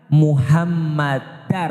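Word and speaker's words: محمدا: Contoh di dalam azan, ashadu anna Muhammadar Rasulullah. Kenapa Muhammadar? Karena ada anna, ashadu anna muhammadar rasulullah. Kalau tidak ada anna berarti bacanya Muhammadur.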